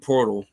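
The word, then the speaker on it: Poeltl: uh portal Jacob portal even though there's not a r in his name anywhere that that's I guess that's that's how you pronounce it portal I I don't get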